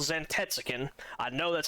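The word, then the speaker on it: Zantetsuken: So, this ability is called Zantets. I know that's how you pronounce that one.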